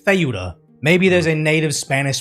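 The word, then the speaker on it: Ceuta: So, it's not Spain stopping people from getting into I know it's spelled seuda, but to my understanding, you pronounce it theuda.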